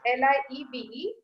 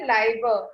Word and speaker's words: Liebe: L-I-E-B-E, we don't say Liebe, we say Liebe. So this is the difference. When it is I, we pronounce it as I, like meine. And when it is I-E, we say Liebe.